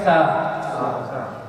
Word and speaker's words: ت: الف با تا پھر ہے تا. زبان جو ہے دانتوں سے ملا کے آپ کہیں گے تا.